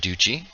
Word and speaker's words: Adducci: and gentlemen if you have questions for Mr Uchi um by the way am I pronouncing your last name correctly yeah yeah you